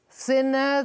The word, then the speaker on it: thinner: He is thinner than I. Repeat. He is thinner than I. Olha a pronúncia do TH. Thinner. Thinner. He's thinner than I.